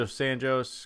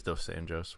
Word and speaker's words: Dos Anjos: it is Dos Anjos. What is it then, smartass? Dos Anjos. Dos Anjos? Not Dos Anjos. They pronounced a J as an H in Spanish.